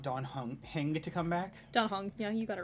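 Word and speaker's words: Dan Heng: I know, but you pronounce it Don Hong. Does E make that noise in... In Chinese it does.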